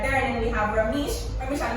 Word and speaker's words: Rameish: I pronounced properly, right? Rameish. Yeah. All right, very good.